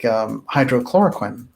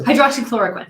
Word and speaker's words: hydroxychloroquine: By the way, there have been a number of very successful remedies, like hydrochloroquine that came up, right? How do you pronounce that? That's it. That's it, yes. Hydroxychloroquine.